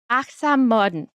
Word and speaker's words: Achtsam Morden: Achtsam Morden. Achtsam Morden. Morden. Achtsam Morden. Morden. Achtsam Morden. Modern. It sounds like modern.